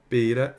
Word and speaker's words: pera: Porque eu estou diante de uma palavra que é paroxítona. O que é uma palavra paroxítona? É que a penúltima sílaba é a sílaba forte. Pera. Se você chamar pera, como é que você chama? Pera. Então, o P, ele é mais forte. É a sílaba tônica.